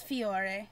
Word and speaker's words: Fiore: next one is from sailor moon and you pronounce uh it's fiore yeah and mamaroo from sailor moon now okay